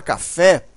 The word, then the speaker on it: café: Na palavra café, a sílaba mais forte, né, a sílaba tônica, é o fé.